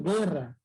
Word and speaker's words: guerra: Mira, yo pronuncio guerra. ¿Se está pronunciando la U? Nada. Guerra. No se pronuncia la U.